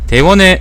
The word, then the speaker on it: 대원: 대왕국이라고 하는 거는 한자를 지명으로 읽을 때는 원이라고 읽어야 되는데요. 내가 찾아보니까 그래서 대원이라고 읽는 게 맞습니다. 여기서 말하는 대원이라는 것도 우리가 흔히 말하는 대왕국입니다. 대원의 사적은 장건으로부터 알려지게 되었다.